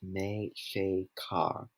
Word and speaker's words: Mexica: Mexico comes from Mexico, pronounced Me-che-ca, which was the Aztecs' name for themselves.